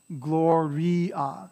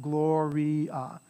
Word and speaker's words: gloria: So it's me-um, right, and me-a, right, gloria, so you pronounce every vowel, gloria.